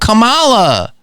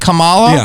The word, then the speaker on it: Kamala: here for 3 weeks and everyone's like, ooh, Kamala. Well, they so happy. How do you say her name? You know why? How do you say her name? You're right. You said it right. Is it Kamala?